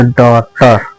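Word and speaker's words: daughter: जी silent है। टी ई आर यहां पर ट जाता है। ये हो जाएगा डॉटर।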